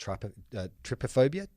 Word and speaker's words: trypophobia: have one phobia, which is, I believe it's pronounced trypophobia, T-U-R-Y-P-O, which is an aversion to seeing holes close together or round objects clustered together.